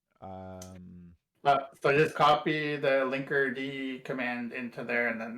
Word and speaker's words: Linkerd: Now, is it pronounced Linkerd or Linkerd? You keep saying Linkerd, so I'm yeah. gonna I would say defer. I would say Linkerd. I don't think I've watched any of their like videos or like I've never heard a Linkerd person say it. You know what it is? The K is silent.